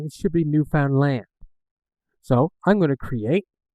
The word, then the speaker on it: Newfoundland: So I'm from a province in Canada called Newfoundland, but a lot of times it's pronounced New Finland or a lot of different other pronunciations.